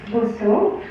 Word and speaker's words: Bosseaux: so I'm that's the right way to pronounce it it's not B it's not B it's boso and yes I'm French and being French is